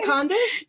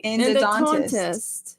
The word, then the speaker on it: endodontist: Endodontist. Endotantist. Tell me how to say it. Endodontist. Endodontist. You got it right.